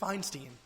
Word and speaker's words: Feinstein: It's Feinstein, bud.